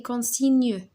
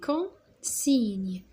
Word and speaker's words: consignes: alors هذه les consignes les consignes d'accord. جي ان ça se prononce نيو.